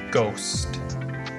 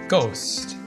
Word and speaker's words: ghost: mentioned it it's a ghost ghost so we don't really pronounce the h it's just a g ghost number five ah